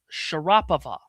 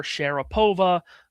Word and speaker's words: Sharapova: Maria said that the proper pronunciation of her last name in Russia was Sharapova. But when she came over to America, everyone called her Sharapova.